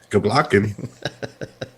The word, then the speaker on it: Kubla Khan: What is it pronounced? Kubla Khan? Kubla Khan.